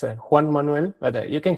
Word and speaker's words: Juan Manuel: speaker engineer Joan M Pereira sir am I pronouncing it right? It's uh it's difficult for you. It's a Juan Manuel but you can call me JM.